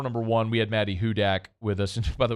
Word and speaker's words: Hudak: and said uh I'm disappointed that it's not Maddie who dat I thought I was saying who that no it's Hudak h-u-d-a-k um is the